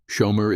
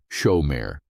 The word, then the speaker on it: shomer: Shomer is pronounced with the emphasis on the first syllable, shomer.